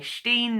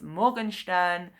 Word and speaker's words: Morgenstern: For some reason I always want to say Steen, not Stern. It's Morgenstern. So, I was recommended this by the book club that I used to go to.